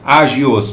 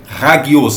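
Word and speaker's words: ἅγιος: Você vai ler com H e com G, agios, porém no grego é hagios, a pronúncia correta, tá?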